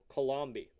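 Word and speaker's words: Coulombe: spelled like Columbus at first. C O U L O MB E Colombi.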